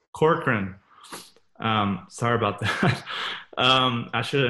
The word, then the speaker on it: Corcoran: am I pronouncing your last name right? Yeah, it's Corcoran. Corcoran.